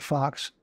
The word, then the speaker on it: Faux: He spells it F-A-U-X, pronounces it Fox.